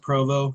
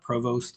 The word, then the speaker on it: Provost: course, um Provo Marshall, and it's pronounced Provo not provost by the way just so